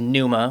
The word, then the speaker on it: Pneuma: The other one is Pneuma, which is I think Greek for air or breath. Pnuema, Pneuma. And then I spelled that N-E-W-M-A. yeah. So phonetically.